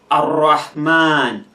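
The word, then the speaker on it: الرحمن: For example, when you have Ar-Rahman, Ar-Rahman, Ar-Rahman, here you realize that the R is in red, so it will be pronounced as if it is 2.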